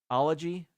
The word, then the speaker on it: zoology: how it was explained if you cover up the first two letters it's ology the first two letters is not Zoo it's zoology zoology zoology not zoology it would be zooi if you were to pronounce it Zoo you know what I